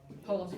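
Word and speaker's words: חולם: Yes, How would you pronounce Holem? cholam hay, Holem hay. cholam hay. It's actually cholam hay. Okay, yeah, it's more the ch sound. Cholam, it's the het.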